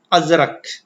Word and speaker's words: ازرق: و دولت نہ ہو۔ لفظ ازرق کا درست تلفظ ہے ازرق۔ اس نظم میں لفظ